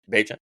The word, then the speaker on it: Bagent: Against my guy, Tyson Badgett. Am I saying that correctly? Am I pronouncing that correctly? Bagent.